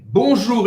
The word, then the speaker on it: bonjour: Bonjour, esse ON tem o mesmo som do ON de bom dia e o OU em francês tem o som da letra U em português.